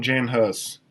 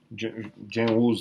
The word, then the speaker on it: Jan Hus: Pra você ter uma ideia, começando com Jan Hus, Jan Hus, né? Como geralmente se pronuncia em português, e com o John